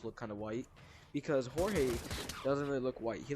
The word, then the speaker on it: Jorge: ] george i mean that is his name just pronounced differently whatever mexicans was mexicans will understand it's jorge but george george is way better to say than jorge not only people think